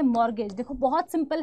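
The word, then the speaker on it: mortgage: आते हैं वो है मॉर्गेज देखो बहुत सिंपल है यहां पर टी साइलेंट होता है ठीक है मॉर्गेज बोलते हैं हम लोग इसको मॉर्गेज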